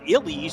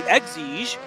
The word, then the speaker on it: Exige: I learned last weekend I was saying it wrong, and I was saying an Elige. That's because I'm old, but this is the Exige, is in third place right now.